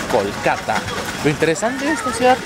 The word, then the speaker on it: Kolkata: Después de un viaje de más de 24 horas hemos llegado a nuestro destino final, la ciudad de Calcuta, o pronunciada en hindi como Kolkata.